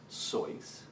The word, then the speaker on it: Seuss: Well, my dad always said it's pronounced Seuss, and since he knew German, I figured he was precise.